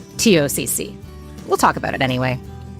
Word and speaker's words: TOCC: It might look like it's pronounced talk, and we want to talk about the talk, but it's actually pronounced TOCC.